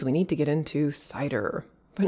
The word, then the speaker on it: CIDR: need to get into cider but not that kind of cider here we're talking about classless inter-domain routing cidr i refer to it as cider some people pronounce it sitter i've even heard cedar but regardless cidr this